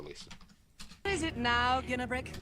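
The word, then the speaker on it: Ginarrbrik: What is it now, Ginnabrick? Ginnabrick, like Martin Guerrero of Stargate. No J.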